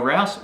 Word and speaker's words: Rouse: My name's Rouse, rhymes with house, and this series is